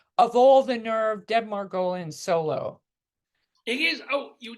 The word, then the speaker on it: Margolin: it's not Margolin, it's Margolin. That's how my father pronounced it.